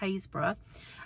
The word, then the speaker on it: Happisburgh: And on top of that, we were near Haysborough, which is actually spelt Happisburgh, and I was saying it wrong for a while, but it's pronounced Haysborough.